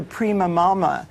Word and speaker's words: prima mama: we should call it the prima mama which which rhymes with prima donna because we need a